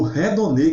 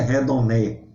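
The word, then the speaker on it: ἡδονή: É bem interessante, e aí chega no redonê que falei lá no início, tá certo? Redonê, tá certo? Não é redoné, tá certo?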